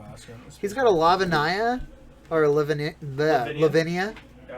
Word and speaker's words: Lavinia: He's got a Lavinia. Or Lavinia. Yeah, I like your pronunciation. Lavinia.